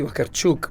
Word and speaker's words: Vakarchuk: Elzy, it's frontman, Slava Vakarchuk. I hope I pronounced that right. Yes, absolutely. Wonderful. Mostly we say Vakarchuk, but, in England, you can just call me Slava.